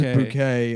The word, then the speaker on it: Bucket: Her last name is Bucket, but she pronounces she pronounces bouquet and then she's like ashamed of her white trash family.